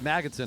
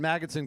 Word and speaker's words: Magnuson: david magnetson i've been mispronouncing it all along david magnuson catches on number 435